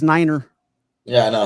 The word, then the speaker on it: niner: I crack up the way Sal says Niner.